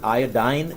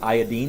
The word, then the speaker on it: iodine: one bromine next one in North America for some reason we pronounce that iodine but it really I think is supposed to be pronounced iodine because it's continuing with the eenz I'll flip-flop back and